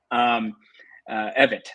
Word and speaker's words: Evitt: He still said Pamela Yvette's great. Evitt, I should say. That's the pronunciation.